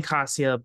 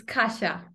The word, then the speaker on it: Kasha: pronunciation of it but I keep saying Casio but I I remember hearing I remember knowing that that's not the right pronunciation is that that's not the right pronunciation almost uh it's Kasha thank you I appreciate